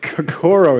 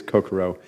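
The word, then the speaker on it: kokoro: oil oh my God cooro is the way I pronounce it but it actually is Koko um it's a Japanese word if you hadn't figured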